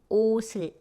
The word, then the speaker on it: 옷을: Next one, 시옷 followed by zero consonant. Then it will be 옷을, 옷을. And then if it's in isolation, it should become 옷, which means clothes.